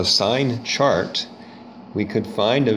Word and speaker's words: sine: angle a so the sine of angle a which you spell it's kind of weird that you spell it s-i-n it's not pronounced sin it's pronounced sine in this case it's